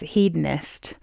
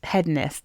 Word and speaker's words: hedonist: headest Rose um interestingly everyone in America says hedonist but I've already said Hest so I went and had a look and um I think both pronunciations are actually correct and one is like more British and one is more American but um yeah I